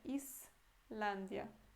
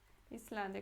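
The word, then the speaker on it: Islandia: E em português é Z, né? Islândia. Mas em polonês é Islândia. Islândia, como se fosse um C cedilha.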